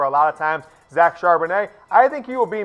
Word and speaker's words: Charbonnet: It's Charbonnet. I've double, triple confirmed Charbonnet, like a fine French wine. It is pronounced a soft T at the end there, E-T.